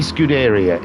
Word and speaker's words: Scuderia: I can't think of another way to say it, guys. It's got to be Scuderia. It's the only way you can say it. It's spelt that way. Scuderia Chiara.